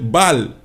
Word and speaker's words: Baal: Ball, pero se escribe Baal.